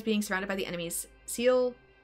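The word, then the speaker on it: Seele: surrounded by the enemies, Seal, is that how I pronounce Sela? I think it was Sela, wasn't it? Shiel is how they said it in Chinese, but I know that's not correct in English.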